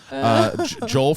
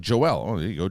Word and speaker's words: Joel: little dated but hey Joel from Queens I like that my name's actually pronounced like Joelle Joelle from Queens but it's cool when white people always say my name wrong stomach issues this week